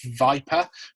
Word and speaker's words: VYPR: If you've got money to invest, there are companies out there such as Viper, which is spelled VYPR, who do some fantastic work in terms of working with startups and SMEs to identify who their market is.